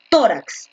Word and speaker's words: tórax: ya los dividido ahora tórax donde lleva escúchame escúchame como lo produce tórax donde lleva la mayor fuerza de vocento o tracks tórax tras